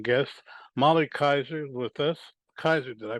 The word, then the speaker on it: Keyser: a really interesting guest molly kaiser with us kaiser did i pronounce it correctly you sure did good my